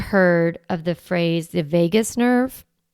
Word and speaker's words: vagus: So you might have heard of the phrase the vagus nerve. It's spelled not like Las Vegas, it's spelled v a g u s.